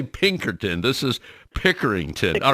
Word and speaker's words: Pickerington: and also Library workers at I hope I pronounce this correct it's Pickerington Public Library am I pronouncing that correctly you